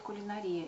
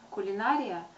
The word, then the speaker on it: кулинария: и в общем обычную все говорят кулинария и это правильно кулинария это неправильное ударение я не стала вдаваться